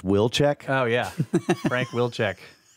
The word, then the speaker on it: Wilczek: The watcher says his last name is pronounced Wilczek.